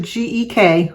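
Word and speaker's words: Gueck: Janet Geck g-u-e-c-k and she told me to pronounce it gek so Janet it's your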